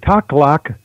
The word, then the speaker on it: Takhlakh: But Taklak Lake is spelled Takhlakh. Obviously, it's a First Nation Indian name for the area out there.